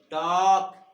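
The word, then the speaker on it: talk: देखो तो क्या बताया नियम में कि एल के बाद कोई व्यंजन हो तो एल का उच्चारण नहीं होता। कैसे नहीं होता तो देखो, इसको क्या पढ़ेंगे, काफ, फिर योक, फिर half, बॉक, टॉक, palm, could, should. अब यहाँ पे देखिए तो एल यहाँ का उच्चारण नहीं किया हमने। अब यहाँ पे इसको हमने बाल की नहीं बोला, इसको हमने टाल की नहीं बोला, इसको हमने साल में नहीं बोला, यानी एल साइलेंट है।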